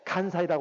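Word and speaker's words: 関西: 관서를 일본말로 간사이라고 한답니다. 간사이. 제가 일본말을 잘 몰라서 제가 이게 보니까 관서를 일본식으로 일본 발음으로는 간사이라고 그래요.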